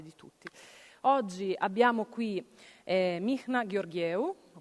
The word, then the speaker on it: Mihnea: My name is Michna. That's very hard to pronounce.